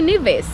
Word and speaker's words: Nevis: beach what's all right welcome to niis as now I know it's pronounced so I'm sorry for butchering it all those other times and we just got